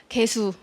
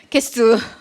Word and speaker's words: 개수: 발음 한번 해볼까요? 개수, 개수, 개수, 개수.